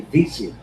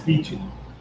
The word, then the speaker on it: Vece: My parents say Vece, just like VC, but I couldn't use it on stage.